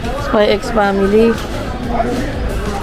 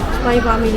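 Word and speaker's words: Spy × Family: Spy X Family. Spy family lang yun, wala yung ex. Ay, ganun ba? Hindi pinopronounce yung ex.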